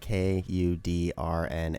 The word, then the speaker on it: Kudrna: Kudrna? Or Kudrna. It's like Kudrna, right? Yeah, just a lot of consonants in a row, so you look at it and you're like, whoa.